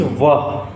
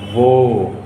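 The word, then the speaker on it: वह: So this would be, written is wah, wah, but we pronounce wo, wo बीमार था.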